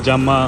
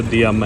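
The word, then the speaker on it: Diama: और ये जामा बॉर्डर पे, इसे फ्रेंच में शायद जामा प्रोनाउंस करते हैं, वैसे तो दियामा है।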